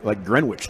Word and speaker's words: Greenwich: What took you to Baylor out of Greenwich, though? Well, first of all, say it right. It's Greenwich.